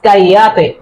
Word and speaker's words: cállate: Because this is not double L. In Spanish, this letter name is ella. Ella. Or ella. That means it is cállate. It will be pronounced like ella.